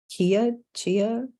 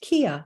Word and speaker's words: Qia: I think it's chia. Does it say on the box? Actually, I should have checked that. Pronounced Kia. Oh, I was right.